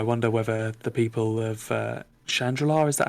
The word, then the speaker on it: Chandrila: I mean, I wonder whether the people of Chandrila, is that how you pronounce where she's? Chandrilla, yeah. Chandrila.